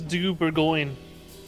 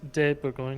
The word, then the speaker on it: de Bourgogne: What are you I'm drinking Duchess du Bourgogne. I'm definitely pronouncing that wrong. Oh, it's de Bourgogne.